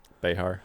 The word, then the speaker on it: Behar: really bad accident and her name was Joy Behar her bayhart how do you say her name Behar I think you're right if you just say